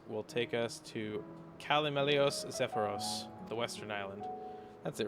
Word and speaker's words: Zephyros: Oh, it is pronounced Zephyros.